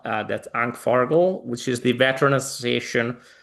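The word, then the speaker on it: ANCFARG: the liberation war of and I'm going to spell it in English first, A C F A RG L. Uh that's Ank Fargo, which is the Veteran Association of the Italian Coalition Army.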